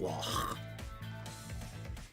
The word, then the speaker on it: Loch: You have to pronounce it like that, Loch.